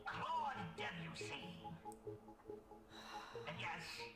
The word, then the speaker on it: Debussy: Is it A, Giuseppe Verdi, B, Georges Bizet, C, Giacomo Puccini, or D, Claude Debussy? And yes, it's pronounced Debussy. Debussy. Debussy. Debussy. It was never Debussy.